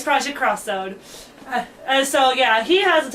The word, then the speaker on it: Project X Zone: I think it was Project X Zone. I think it was. No, Project X is pronounced cross. Okay. Yeah, I learned that. So it'd be Cross Zone then. Yeah, it's Project Cross Zone.